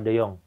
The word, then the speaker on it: de Jongh: Eh, enggak ada H-nya belakangnya ya? Hah? Ada tapi enggak dibaca. Ada. Kenapa enggak dibaca? Karena memang enggak dibaca aja sih. Kalau ada yang mau baca boleh enggak? Boleh aja. Tapi kan tadi bacanya gimana? Mawar Deyong itu.